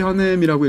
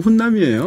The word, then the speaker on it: Hunnam: 찰리 헌넴이라고 읽어야 될 텐데 이게 영어로 HUNNAM인데 우리말로 읽으면 훈남이에요.